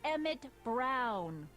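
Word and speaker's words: Emmett Brown: bill to a te that's EMT Brown rhymes with clown which I'm beginning to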